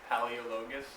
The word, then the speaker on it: Paleologos: My name is Paleologos, so I have 5 syllables to get through.